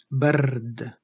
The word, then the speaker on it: برد: Now to add the harakat, برد, فتحة, سكون, برد. And the ra is rolled, برد, برد.